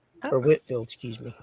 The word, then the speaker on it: Whitefield: George Whitefield or Whitfield, excuse me. It's spelled Whitefield, but it's pronounced Whitfield.